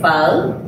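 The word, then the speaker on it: phở: So, pho. Is that how you pronounce it? I'm sorry. So, technically, we should be saying pho.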